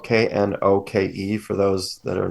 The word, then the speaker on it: Knoke: His last name is spelled Knoke for those that are not looking at the YouTube.